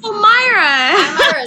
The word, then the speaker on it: Myra: you know who what Mera or I might be saying the name wrong it's m i r a Myra sorry Myra I did